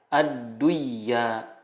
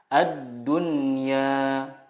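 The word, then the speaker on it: الدنيا: Contohnya, ad-dunya tidak dibaca ad-duyya, tetapi yang benar adalah ad-dunya.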